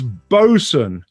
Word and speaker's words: boatswain: i'd bugger that up this is bosun but it's spelt boat swain i don't ask me why that is and i don't really